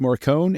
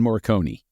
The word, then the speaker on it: Morricone: I've heard it pronounced Morricone and Morriconi. Both I've heard it pronounced both ways. Let's say Morricone because I think Falcone is better than Falcon.